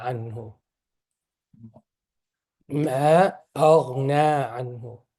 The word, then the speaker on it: أغنى: So the syllable, there are two syllable long, two haraka long. Aghna is one syllable long. Aghna. This one is one syllable. This is wrong. This, you need two syllables. Noon and then alif.